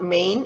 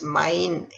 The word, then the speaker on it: main: malay language mind now this one is not main it's mine a i sound mind it's to play